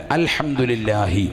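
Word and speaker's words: الحمد لله: മടിക്കണ്ട നല്ല ഇഹലാസോടുകൂടി പറയ അൽഹംദുലില്ലാഹി അങ്ങനെയല്ല അൽഹംദുലില്ലാഹി ആ ഹാ ഉച്ചരിക്കണം.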